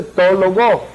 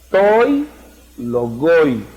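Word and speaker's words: τῷ λόγῳ: Entonces ahí no dice to logo, sino toi logoi.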